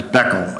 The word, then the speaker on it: Beckel: be nervous about it you can pronounce my name right as Beckle it's okay Beckel is